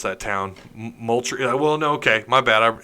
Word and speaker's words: Moultrie: possibly Georgia, but he's out of, I can't pronounce that town, Moultrie. Well, no, okay, my bad. It's Moultrie, Georgia. I'm dyslexic. I swear to God. I swear those letters moved around. Yeah, Moultrie, Georgia, and he is 4-star running back, 5'10", 200 pounds.